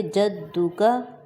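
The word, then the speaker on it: جدك: کھینچیں گے۔ وتعالی جدک، دال پہ شاد ہے، زور دے کر پڑھیں گے، جدک، وتعالی جدک۔ نیکسٹ، ولا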